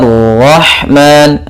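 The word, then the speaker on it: الرَّحْمَٰنُ: Kemudian anzala rahman, la tipis, ro-nya tebal. Anzala rahman, la baru langsung qara, la rahman. Ro-nya di sini ra tafkhim karena dia berharakat fathah.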